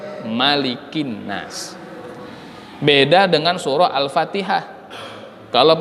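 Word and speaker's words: مَلِكِ النَّاسِ: Ketika kita membaca surah An-Nas sampai pada ayat Malikin Nas, tidak boleh maliknya dibaca panjang. Nggak boleh dibaca Malikin Nas, itu nggak boleh. Maliknya harus dibaca pendek, Malikin Nas.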